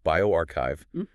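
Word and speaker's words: bioRxiv: It was published in bioarchiv and just a note for everyone that's pronounced bioarchchive on December 16th.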